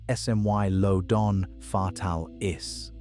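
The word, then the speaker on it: Smilodon fatalis: we didn't understand until recently is Smilean fatalis pronounced smmy lodon fatal is the saber-tooth cat about 6 to 900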